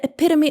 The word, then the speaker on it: epitome: For example, she's the epitome of kindness.